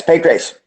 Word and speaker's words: Pancrase: were responsible for starting starting an organization called Pancrase. Is that how you say it? Yes, Pancrase.